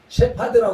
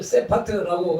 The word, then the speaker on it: 셰파드: 예수님이 선한 목자라고 했는데 목자를 영어로 셰파드라고 그럽니다. 셰파드. 그래서 우리가 새카만 큰 개를 세파트라고 그러는데 그 세파트가 셰파드를 우리식으로 발음한 것이죠.